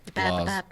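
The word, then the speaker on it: BlazBlue: We have Blas Blue, Chrono Fantasma Extend. Wait, Blaz or Blaze? Blas.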